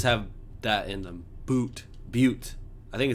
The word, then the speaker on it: butte: lot of places have that in the boot butte i think it's because i point out that this word is pronounced and it's probably quite an appropriate pronunciation